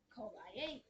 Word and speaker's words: IAU: They're called IA, which is spelled with IAU.